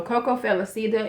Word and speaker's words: Coco Felicita: this one is cocoa Coco Felicita I always say this name wrong so Coco felicida is what I have on today